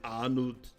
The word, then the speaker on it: Arnold: but his name is Arnold. Arnold, as in Arnold Schwarzenegger. And the T101's the reference to the Terminator. Arnold. It's like the Austrian, you don't pronounce the R. The R sounds like an H.